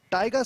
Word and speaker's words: Taiga: And Taiga sounds a lot like tiger you know when you pronounce it the phonetics every time I say Taiga Tanaka sounds like Tiger Tanaka and Tiger is a